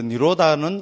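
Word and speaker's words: nirodha: D뒤에 뭐 이런데 H 나온 거는 발음 안에 리면 됩니다. 그렇게 니로다 이렇 하면 됩니다.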